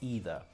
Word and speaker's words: either: Leisure is the British pronunciation, but how do the Americans say leisure? Leisure. Okay, before I spoke about either, and we say either or either.